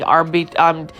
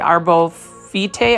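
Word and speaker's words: Arborvitae: And then over here, you can see that this is such a cute looking Arvitae, I think Arbovitae, I think that's how you pronounce it.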